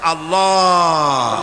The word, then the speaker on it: আল্লাহ: না কেউ বলে না আল্লাহ আল্লাহ পাকের উচ্চারণটা হচ্ছে আল্লাহ পাকের নামের উচ্চারণ হচ্ছে আল্লাহ মুখটা একটু গোল হয়ে যাবে বলেন আল্লাহ আল্লাহ সুবহানাল্লাহ পৃথিবীতে বিভিন্ন জাতি তার